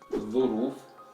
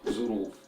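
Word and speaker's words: ظروف: Now in Egyptian Arabic dialect, this word is pronounced as zuruf, zuruf with Zain or Z sound.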